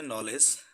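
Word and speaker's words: knowledge: Example স্বরূপ এখানে দেওয়া আছে নলেজ, নলেজের প্রথম অক্ষর কিন্তু কে এর উচ্চারণ হয়নি।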